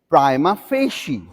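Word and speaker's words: prima facie: s h e e the received pronunciation of this word is prima fi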